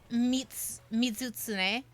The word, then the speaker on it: Mizutsune: It's Mizutsune.